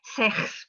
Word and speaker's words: sechs: They say fear, and they don't pronounce sechs properly with the proper velar fricative.